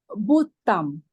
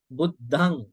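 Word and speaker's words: Buddhaṃ: I hear T sound. You have to get rid of the T sound. It is D sound. Okay. Buddham. I again say I hear T. Try to pronounce Buddham. Buddhang.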